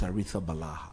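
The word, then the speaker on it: Arrizabalaga: and I requested for the Spanish pronunciation of the name. Yeah. And it was clear. With the Balaha.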